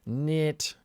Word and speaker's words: NIIT: If you're making enough money from your investments, you will get hit with this special tax rate of 3.8% called NIT. That's how I pronounce it.